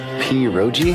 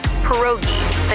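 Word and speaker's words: pierogi: Peroi. Did I pronounce that right? It's pronounced perogi. A tasty dish like dumplings.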